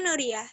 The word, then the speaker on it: Nuriyah: kalau kayak gitu tapi My name is ada penekanan tuh ini Nuriah You can call me